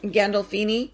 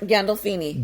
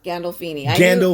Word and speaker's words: Gandolfini: name is james um i can never really pronounce the last name correct but we'll go ahead once you try it gandalfini what was that gandolfini gando food no gandolfini i knew you would have some trouble that's